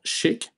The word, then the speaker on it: SCHC: developed a technology uh called shik which is the way to pronounce uh the technology which is SCC uh which stands for